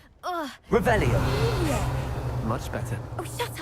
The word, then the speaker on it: Revelio: You're Rebellious. saying it wrong. Ugh. Revelio.